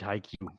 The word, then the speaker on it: HIQ: you guys get it so phonetically spelled this is for you roland where are you i guess he hears it high q so it's high like high and q like the letter q oh now back to